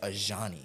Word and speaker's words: Ajani: It's Ajani. Ajani. Ajani. What did she say? Ajani. Ajani. Ajani. Yeah, I think yes. I'm pretty sure she said Ajani.